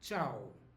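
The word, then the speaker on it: tchau: uh heard before is the word chow chow it sounds like Italian uh the spelling is different and Brazilians only use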